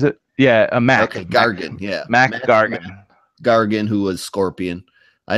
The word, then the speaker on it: Mac Gargan: he recaps his history with ICANN is it mark Gargan is it yeah America Gargan yeah Mac Gargan Gargan who was scorpion I never say his